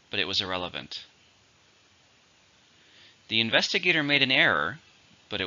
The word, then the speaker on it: investigator: it's a countable noun it has five syllables stress in a second investigator the investigator looked